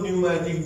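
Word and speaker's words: pneumatic: भरा रहता है, उसको न्यूमैटिक बोन कहते हैं। क्या कहते हैं, न्यूमैटिक बोन। पी साइलेंट है, न्यूमैटिक बोन, क्या कहेंगे उसको, न्यूमैटिक बोन।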